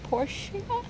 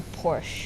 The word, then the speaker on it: Porsche: less a porsche yeah do you say porsche or porsche i say posh okay is it porsche i think portia is a thai way of saying it no i i think i heard a couple of americans say that because porsche is what german right a porsche